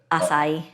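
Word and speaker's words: açaí: go to memphis that's how you say it acai i've never known how to pronounce that yeah if you wanted all that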